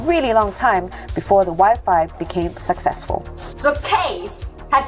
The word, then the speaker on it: Wi-Fi: It was actually Case's wife, Angela, who came up with the name Wi-Fi after its original name, Wireless Fidelity. It rhymes with hi-fi, hi-fi, Wi-Fi, hi-fi, Wi-Fi.